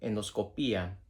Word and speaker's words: endoscopia: to Scopia rule um endoscopia uh colonoscopiacopia. Um all of these have the above that final I crucially you have to stress that final that u penultimate syllable.